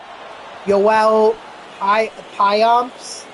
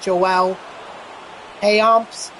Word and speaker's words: Payamps: Like, Yoel Payamps, how I was saying Joel Payamps. And obviously that was wrong, so, I'm going to make sure that I at least say it correctly.